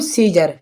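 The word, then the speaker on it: Caesar: ठीक है, यहाँ पे लिखा हुआ है सीजर, तो आप इस सीजर में देखें ई से बाद में आया है ए, तो यहाँ पर ए क्या है, ए साइलेंट है। ठीक है, तो इसके लिए बोलेंगे हम सीजर।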